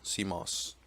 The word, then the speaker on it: CMOS: for setup the bios also contains the CMOS pronounced CMOS setup program this program normally accessed during its